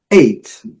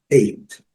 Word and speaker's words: eight: Então, porém, esse GH que, conforme nossa proposta de língua silenciosa, ele não é pronunciado. Então, do, que é referir-se à massa do pão, do. Eight, conhecida, aprendemos desde quando começamos a estudar.